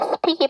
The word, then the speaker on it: speak: 네, 발음 기호대로 하면 speak이 맞는데 S 사운드 뒤에 무성음 P가 나왔으니까 쌍잠 speak 해주시면 되겠죠.